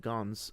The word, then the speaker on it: Gans: um the director Kristoff Gans uh had a or I guess it's just Gong, so I'm sorry for the French pronunciation there.